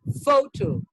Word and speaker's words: photo: of the syllables so here we have to say photo photo on the first one in the second here photograph photograph photograph so that's what your